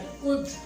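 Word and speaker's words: could: फिर मैंने वर्ड लिखा ओ और यू के दरमियान और डी के दरमियान में एल आएगा, एल साइलेंट हो जाता है। कुड, वुड, कूल्ड, वुड, शूल्ड नहीं होता, अक्सर जगह वुड, वुड, वुड, कुड, शुड।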